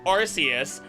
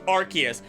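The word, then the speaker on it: Arceus: wasting your time cuz I know it's archus like ark or however else I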